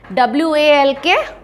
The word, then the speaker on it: walk: WALK, walk. Here L is silent and YOUNG, young.